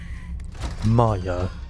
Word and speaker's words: Maya: Maya. This whole time I've been saying Mia like in freaking silly fox.